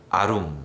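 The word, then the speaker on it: עָרוּם: 하다 라고 하는 말은 히브리어로 아루이 이라고 발음합니다 강교 하다 라고 하는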